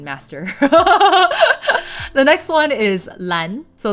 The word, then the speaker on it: Lan: the next one is Lan so Lan is the Eon representing the hunt Len I think is pretty easy to pronounce also I'm going to call again attention to the a sound Lan LAN and Len kind of